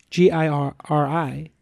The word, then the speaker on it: Giri: of us Srinivasan Cyril you know yes gir I is your noble obligation in Japanese yeah but you spell it you pronounce it Giri like the street